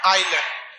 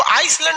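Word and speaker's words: island: आइलैंड। आइलैंड में ना S silent रहता है। इसको आइसलैंड नहीं पढ़िएगा, आइलैंड।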